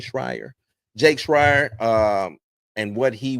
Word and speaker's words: Schreier: Schreier.